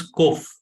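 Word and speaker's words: ק: to remember here is although English transliteration is Q sound is k go while doing the transliteration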